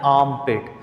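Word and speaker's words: armpit: फिर ये जो हमारी बगल होती है इसे हम लोग कहते हैं आर्म पिट। इसमें आर जो है वो इतना प्रोनाउंस नहीं होता, बल्कि ऑलमोस्ट साइलेंट होता है।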